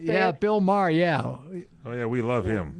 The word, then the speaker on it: Maher: Yeah, Bill Maher, yeah.